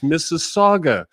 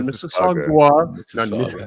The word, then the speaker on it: Mississauga: I don't like the fact that you're mispronouncing Mississauga. It's Mississauga, not Mississauga, not Mississippi.